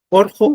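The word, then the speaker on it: urqu: Orjo algo. Orjo. Se pronuncia como una O, ¿no?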